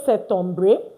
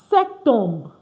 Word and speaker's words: septembre: You see S-E-T you pronounce. Don't pronounce the P.